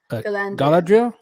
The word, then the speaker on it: Galadriel: I like the actors that they chose for Elrond and Glad and I was misspell her name, mispronounced her name. Galadriel.